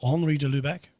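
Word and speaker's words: Henri de Lubac: resource to share is the book written by Henry de lubach or Henry de Lubeck insists on the correct pronunciation of his name the drama of atheist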